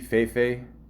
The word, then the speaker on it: Fefe: A few months later, his single Fifi, is it pronounced that? Fifi, Fefe, F-E-F-E, okay, featuring fellow rapper Nicki Minaj and